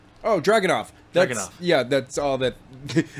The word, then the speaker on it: Dragunov: Okay, so I'm not going to try to say his first name because I don't know how to pronounce it, but his last name is Drogonoff. Oh, Dragunov.